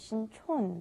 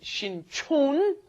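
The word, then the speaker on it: 신촌: One is Sincheon, one is Sinchon. Yes. The one by Yonsei University is Sinchon, and the one by Jamsil down south, that is Sincheon.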